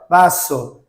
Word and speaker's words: vaso: Então, quando a gente for pronunciar uma palavra com V, por exemplo, copo em espanhol é vaso.